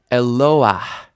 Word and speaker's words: Eloah: Eloah. And you might be noticing that the stress is not on that final patach there. It's actually on the vowel before it. Eloah, not Eloah, never Eloah, but Eloah.